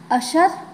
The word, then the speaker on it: अशर: अशर बिना बाण के, अशर शर, जब श की मात्रा, श की आपको आवाज़ आती है, श का उच्चारण होता है अशर, मतलब बिना बाण के।